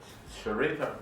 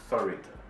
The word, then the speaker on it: Sarita: Just had a birthday, but Sharita brought her in. Sarita brought her in. She always get on me because I don't pronounce her name right. It's Sarita.